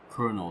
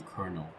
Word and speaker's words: colonel: I've always said Colonel the way it's spelled uh like Colonel, but now I know it's supposed to be Colonel.